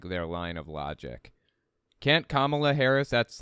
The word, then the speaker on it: Kamala: get their like their line of logic can't Kamala Harris that's how her name is pronounced by the by Kamala can't Kamala Harris